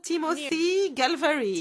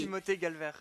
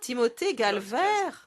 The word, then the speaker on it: Timothée Galver: Alors, je me suis entraînée, hein, Timothy Galvary. Timothée Galver. Ah, Timothée Galver.